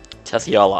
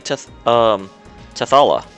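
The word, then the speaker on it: Tethe'alla: Tetheala. I've got to remember that. And I'm sorry, I pronounced it wrong because I'm so used to saying Tethala.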